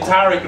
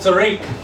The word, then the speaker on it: Tariq: Well, you still fucking haven't, because I pronounced it Tariq, not Tariq.